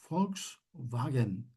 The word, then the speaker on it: Volkswagen: Volkswagen.